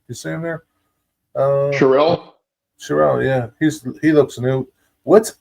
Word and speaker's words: Carell: I saw Steve Carell. Was that how you pronounce his name? You see him there? Carell? Carell, yeah.